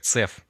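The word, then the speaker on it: CEF: Express forwarding сокращенность EF в русской интерпретации произносится как цеф по умолчанию работает балансировка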